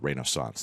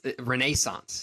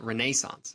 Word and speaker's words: Renaissance: out ahead of that no it's Renaissance you got to really emphasize that Renaissance um shots there we